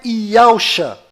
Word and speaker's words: Yahushua: E a pronúncia é Yahushua.